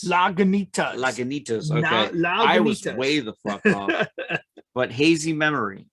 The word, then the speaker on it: Lagunitas: memory from was that how do you say that like languintes lagunitas but hazy memory it's